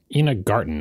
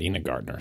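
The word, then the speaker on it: Ina Garten: show notes but uh Ena Garten not Ena Gartner sorry I get her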